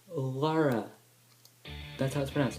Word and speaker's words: Lara: more thing I momentary affliction later game it's pronounced Lara the house fans it's laura not Clara or the war on its water